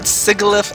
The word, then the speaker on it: Sigilyph: Oh, Sigilyph? Sigilyph. Okay, so that's how I pronounce it as well, but I have heard Sigilyph as well, so Oh, yeah, I heard that too.